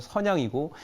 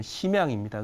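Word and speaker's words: 沈阳: 네, 중국말로는 중국 발음으로는 선양이고 우리 발음으로는 심양입니다.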